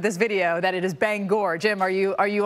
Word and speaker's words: Bangor: all the time is Bangor Maine it rhymes with store Bangor and mainers get